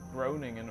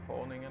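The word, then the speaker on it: Groningen: Also, uh, Corning, Groingan or Corningan, I think is how the Dutch pronounce it.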